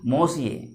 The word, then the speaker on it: Monsieur: Again, mind the pronunciation. M-O-N-S-I-E-U-R. Its pronunciation is Monsieur.